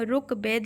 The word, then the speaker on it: ऋग्वेद: लिखते हैं ठीक है उच्चारण करते हैं ऋग्वेद लेकिन लिखते क्या है रुक वेद ठीक है रू रू लिखते हैं है ना बोलते समय हम री बोलते हैं लेकिन लिखेंगे तो रू है ना उसके बाद कविंद्र कविंद्र